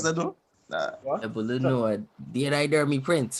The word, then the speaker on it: Ebunoluwa: My name is Ebunoluwa. I am my Prince. Hey. Got that? Right. Hey. Greatness. Can you pronounce that though? Nah, Ebunoluwa.